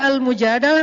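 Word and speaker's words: المجادلة: Jadi tergantung kita bacanya dilah atau dalah. Kalau kita baca Mujadilah, berarti perempuan yang lagi curhat. Kalau kita baca Al-Mujadalah, berarti curhat itu sendiri.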